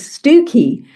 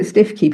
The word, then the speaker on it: Stiffkey: There's also a place in North Norfolk called Stiffkey, uh spelled, you know, Stiffkey, but the correct pronunciation is Stooky. So, if you call it Stiffkey, people look at you and go, "Hmm, you're not from around here, are you?"